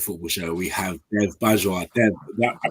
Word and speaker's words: Bajwa: Joining me today on the Undiluted Football Show, we have Dev Bajwa. Dev, I pronounced it right, Bajwa?